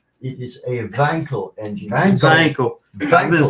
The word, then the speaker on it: Wankel: Don't forget the B's, W's in German are round the other way. It is a wankel engine. Vankel.